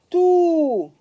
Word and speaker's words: tout: Tout, T-O-U-T, lettre muette. Tout, alors ici on me dit lis et écris. Toujours lire et écrire. Tout à coup, ici je fais la liaison.